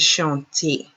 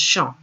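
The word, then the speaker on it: chant: again the verb is shanti so when conjugating what do we do we drop the er and we're left with sean i apologize i pronounced it incorrectly before when it's c-h-a-n-t is just shown so we're left with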